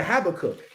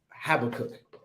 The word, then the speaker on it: Habakkuk: um next we have the brother habicoke the brother habakkuk all right have a cook he want to say habakkuk you could say it like that all right my fault right habakkuk it sound tougher like that i don't know i